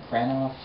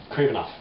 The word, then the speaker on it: Kravinoff: Someone grabs her mom, they're trying to get her to do this, and it's, how do you pronounce it? The Kranoff, the Craven the Hunter's family. Oh, Kravinoff.